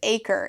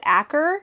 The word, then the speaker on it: Akre: His name is Akre, except it's spelled Aker, but I only know it's Achre because I tandem read this and the audio book specifically says Achre.